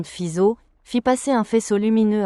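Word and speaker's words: Fizeau: Armand Fisao, prononcé Armand Fiso, fit passer un faisceau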